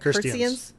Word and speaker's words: Khristians: Khristians. Think of a girl named Kirsty. Kirsty.